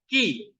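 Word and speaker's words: χ: C Sin Omega iya ini bacanya apa i ci ci atau si ini kan seperti ee ya Eh kayak Christ gitu ya k bacanya ki ki Iya seperti kata Kil ya Oke ini bacanya bukan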